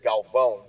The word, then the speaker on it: Galvão: So it's actually, the way to pronounce it is Galvão, because the A at the end has the little squiggly worm on top.